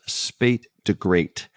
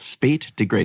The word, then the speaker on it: SP8DAGR8: U.S., and I think the pronunciation of the name of this reviewer is Spate de Great, but yeah, I that's could be wrong on that. SP8DAGR8. Spate de Great.